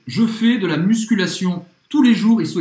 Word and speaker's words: tous les jours: Até os franceses erram, porque a gente não pronuncia nenhum dos S's.